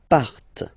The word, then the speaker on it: partent: And the last persons, il, elle, partent. Remember, classic ending, ENT, but then you don't pronounce them.